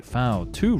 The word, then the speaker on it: V2: to invent the INF famous V2 rocket or pronounced in German the foul 2 rocket that stunned the allies